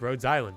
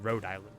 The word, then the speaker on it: Rhode Island: a pharmaceutical company like Roads Island is helping people. I mean Rhode Island, not there's no s.